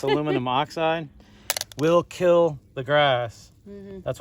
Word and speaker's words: aluminum oxide: um this aluminum oxide which i kept mispronouncing the last time as dioxide it's aluminum oxide will kill the grass